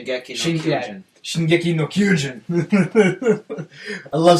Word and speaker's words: Shingeki no Kyojin: Shingeki no Kyojin.